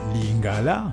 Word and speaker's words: lingala: Ainsi donc, en lingala, d'abord, tenez compte du fait que la langue lingala, et non lingala, comme certains essayent de prononcer à la française, la langue lingala, l'accent tonique tombe, lingala.